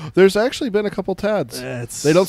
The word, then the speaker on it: Tad: Yeah, T-A-D. Because it's usually shortened from Thaddeus, so it's shortened to Thad, which is just T-H-A-D, and then it just gets evolved into Tad.